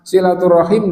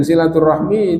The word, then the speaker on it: silaturahim: tidak dibakukan kayak gitu, maka silaturahim dan silaturahmi itu adalah satu, gitu. Yang baca silaturahim itu karena sudah biasa baca tulisan Arab, yang bacanya silaturahmi itu karena baru latihan membaca tulisan Arab. Nah, jadi itu. Adapun tulisannya sama persis, dibaca orang Arab, orang Indonesia yang sudah biasa sama, gitu.